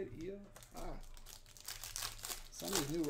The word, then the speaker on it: Io: Io. That's how you say it. Io.